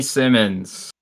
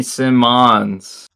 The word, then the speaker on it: Simons: Jaylen Suggs for Anthony Simmons I mean if you're gonna say his last name wrong Anthony Simons Sim Sim Simon Anthony